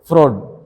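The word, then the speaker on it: Freud: segment फ्रॉड segment फ्रॉड एस आई जी एम यू एन डी एफ आर ई ए यू डी ऐसे ही French German ऐसे ही नाम फ्रॉड फ्रूट नहीं फ्रॉड एफ आर ई यू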